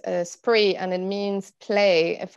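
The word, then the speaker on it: Spraoi: festival that is called spree uh so it's spelt in a weird um gaelic irish way which is s p or a oh i but it's pronounced spree and it means play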